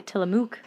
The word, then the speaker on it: Tillamook: because and it'll rhyme with rock but mookie spelled like book well then in that and since it would be Tillamook yeah Tillamook Tillamook Rock Lighthouse okay is the